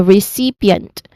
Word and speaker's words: recipient: So your jaw is hanging and end and okay the primary stress is on the second syllable. See so you say recipient again recipient.